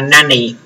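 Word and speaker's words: 何: Tuy nhiên là khi mà nằm trong ruột của câu động từ á thì chúng ta sẽ không đọc là nam mà chúng ta sẽ đọc là nani.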